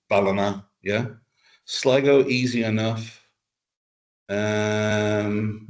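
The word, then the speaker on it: Ballina: Uh some people call it Bellina because of how because of how so there people will say oh yeah we're going to Balina tomorrow. It's like where's Bolina? When it's actually Balina.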